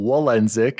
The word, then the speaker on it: Walendzik: oh hello Daddy D Wally here AKA Daniel wenck is how you pronounce the last name yes I am Polish